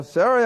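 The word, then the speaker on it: Sarai: we're not going to rush it alright so sorry I said unto Abram now I'm pronouncing it the way it should be pronounced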